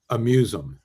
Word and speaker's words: aMuse'um: When you see it in print, it's a play on the word museum. And it doesn't look pronounceable at all, but it really is aMuse'um.